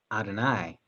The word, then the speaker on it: Adonai: They pronounce it as Adonai, which is Hebrew for Lord.